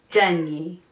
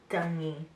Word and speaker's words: Dunye: Got it Dunye. Dunye. Which would make sense by the way it's spelled.